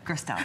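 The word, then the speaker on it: Gerstel: Gristel, so tough.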